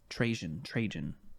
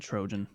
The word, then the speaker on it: Trajan: Trajan. That's spelled how? Trajan. I almost said Trojan, but nope.